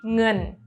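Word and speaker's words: เงิน: Bacanya tetap e, jadi ngen. Ngongu dengan sara e, nge, ditambah n, ngen.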